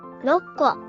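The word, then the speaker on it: 六個: First, duplicate the initial K at the start of the counter, KKO. Next, since it's Roku, drop the KU part. You're just left with RO, right? Then, after that, RO, add the KKO you created earlier. It becomes 6個 Reading that aloud is 6個 for 6 apples.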